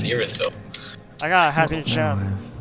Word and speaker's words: Irithyll: It's not Ethereal, it's Irithyll.